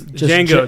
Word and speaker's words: Django: off in some instances like Django like it's Jango Jango godam says it in